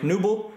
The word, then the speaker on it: Knuble: As I've made the joke before, you can never mispronounce his name. If you say the K loud, you say the K quiet. Either way, it sounds the same. You go Mike Knuble or Mike Knuble.